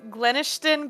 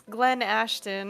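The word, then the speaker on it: Glenashton: It's It's I thought it was Glennishton, but it's Glenn Ashton.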